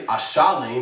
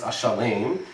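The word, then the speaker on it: אֲשַׁלֵּם: The esnach is on the lame, so you don't say Ashalem, it's Ashalem.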